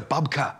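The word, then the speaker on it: babka: a bake or a bub babe it's a bubka what is a bubbka am i even saying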